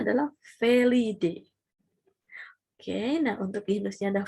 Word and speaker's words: Felidae: Jadi tapi dibacanya adalah Felidae.